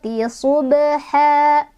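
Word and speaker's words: ضبحا: Fal mughirati subha. Subha. Ini ada qalqalah sughra lagi. Karena ada huruf qalqalah yaitu ba yang sukunnya sukun asli ya. Dibacanya pantulannya kecil. Subha.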